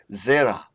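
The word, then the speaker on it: זרע: Zera. You see the accent here. We have to consider that. So this one is zera. So this is, if we talk about the tone syllable that we learned in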